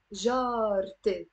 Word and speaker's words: جارتي: I end up pronouncing this te marbuta here, okay? And I say جارتي, not جارة-ي.